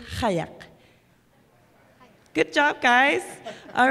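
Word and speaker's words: qajaq: nominated album Sedna and the proper way to say kayak is hayek good job guys all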